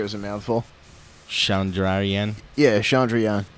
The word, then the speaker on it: Chandrayaan: Yeah, Chandrayaan. Chandrayaan-1 spacecraft, scientists were able to calculate how much water was present on the surface of the moon.